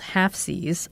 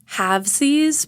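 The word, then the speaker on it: Halfsies: I call it halvesies because of how I talk, but you can call it half seas.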